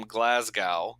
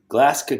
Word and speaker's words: Glasgow: that Andrew is from Glasgow there's a G in the middle of the word but when he pronounces it I don't hear a Gus sound at all Glasgow go it's like all